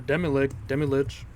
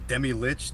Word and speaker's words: Demilich: We're pretty sure it's supposed to be pronounced Demilich, but we all agree on Demilich. It just sounds better. I don't. It really. Lich sounds better than lick to me.